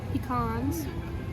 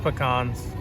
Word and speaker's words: pecan: they put on those peans that was pronounced peans peans peans it's it's pronounced pecans all right here we